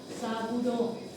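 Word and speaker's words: Sabouraud: Agar saburón. escribe saburaud, se pronuncia saburó.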